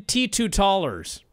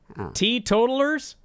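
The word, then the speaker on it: teetotalers: they should have been T2 tallers T totals T totals yes is that what it is not T2 tallers yes damn it I've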